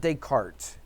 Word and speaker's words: Descartes: But Descartes, okay, the S is not pronounced, it's silent.